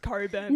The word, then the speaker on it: Cockburn: funny is that they probably don't even know that it's pronounced coburn but they've seen that